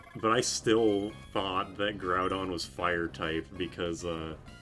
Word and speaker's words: Groudon: Groundon. I never said Groundon. But I did for a while think like I I owned Ruby and but I still thought that Groudon was fire type because